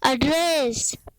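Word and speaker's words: address: एड्रेस। अ की आवाज आना चाहिए, ना कि ए की। एड्रेस, एड्रेस यानी पता, एड्रेस यानी पता।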